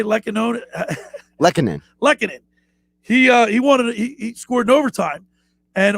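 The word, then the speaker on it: Lehkonen: Lekkonen.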